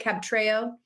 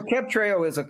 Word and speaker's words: Cabtreo: Cabtreo? Yeah, that's how you say it. Yeah, so Cabtreo is a triple combination.